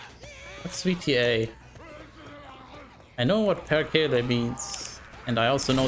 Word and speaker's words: perkele: I know what perkele means, and I also know that that's exactly how you pronounce that word.